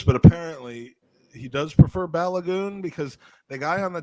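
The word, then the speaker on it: Balogun: pronounced like that but apparently that is the nigerian pronunciation for it so i'm not i'm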